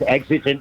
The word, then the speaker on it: exigent: It's exigent, means something that's urgent or pressing.